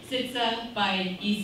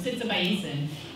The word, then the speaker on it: Sitsabaiesan: do the lesson so it's radika sitsa by E so sits by e um it's it's not really hard you just read it phonetically 12 letters it's not